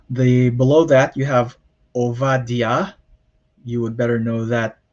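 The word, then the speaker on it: עובדיה: ester and then the below that you have ovadia you would better know that in the bible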